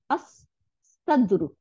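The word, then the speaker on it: الصدر: দেখেন, লামটা গিয়ে সদের সাথে মিলে গিয়ে দুইটা সদ বানাই দিবে, লামের আর উচ্চারণ নাই। আস সাদরু, বুক, আস সাদরু, সদর, আমরা বাংলায়ও বলি সদর, সদর মানে বুক।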